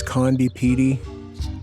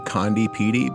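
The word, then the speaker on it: Conde Petie: Now I pronounce this place condi. How you pronounce it is up to you.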